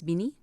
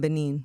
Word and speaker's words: Benin: I got to make sure I say it right. It's bini. Yeah, we got to stop saying Benin, guys.